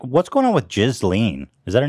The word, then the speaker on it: Ghislaine: Because at first I was like, oh, it's Gazelle or something, like French name. I've heard it pronounced Ghislaine. It's Ghislaine, yeah.